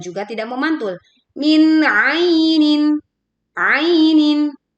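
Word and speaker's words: عَيْنٍ: Min ainin ainin dibaca ee dengan lembut, ya lin tidak dibaca a tetapi ain ainah kita baca kasrah tanwin dengan jelas kemudian hamzah juga dengan jelas sehingga ketika kita membaca ainin itu tidak bergetar.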